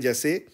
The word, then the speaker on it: sie: और जब आप शी को ट्रांसलेट करेंगे जर्मन में तो